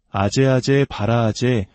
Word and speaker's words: 아제아제 바라아제: 한국에서는 이를 소리나는 대로 아제아제 바라아제 바라승아제 모지 사바하라고 읽습니다. 그 뜻은 가자, 가자, 저 피안으로 가자.